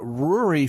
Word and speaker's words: Rory: my guest is named Rory fairbairns he was very careful to tell me that his first name rhymes with Brewery which is somehow ironic